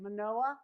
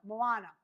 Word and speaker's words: Moana: Monoa. Moa Moana. Moana.